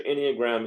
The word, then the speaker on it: Enneagram: Enneagram on other videos I want so Enneagram is spelled e-n-n-e-a-g-r-a-m Enneagram okay go look up a truly free